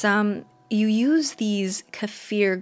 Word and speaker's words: kefir: has been homemade water kefir if you're not familiar with it i just learned about it too it's um you use these kefir grains or kefir some people pronounce it kefir but you use these